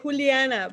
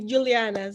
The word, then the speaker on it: Juliana: I'm from Colombia and we say Juliana, but everyone here call me Juliana.